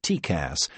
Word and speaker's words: TCAS: Traffic collision avoidance system, TCAS, pronounced TCAS, gives pilots a graphic on-screen representation of nearby aircraft.